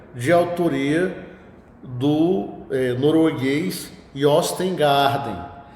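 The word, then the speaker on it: Jostein Gaarder: autoria do eh norueguês Yostengarden. Se escreve Jostengarden, mas o J com esse som de J de G, ele só é mais falado em língua portuguesa.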